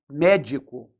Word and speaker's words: médico: de trás para frente como está na palavra médico que eu separo em sílaba assim olhando que eu te disse se a sílaba tônica fosse essa aqui a palavra médico seria oxítona se fosse essa aqui a palavra médico seria paroxítona e como é a terceira de trás para frente a antepenúltima sílaba essa é uma palavra proparoxítona e quando a gente